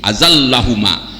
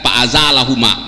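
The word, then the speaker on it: فأزلهما: ya dua cara membacanya maka yang lebih tepat ya yang lebih tepat itu dibaca dengan kalimat tasdidazallahumit mimma Makapi azallahuma. Jadi bukan faazalahuma.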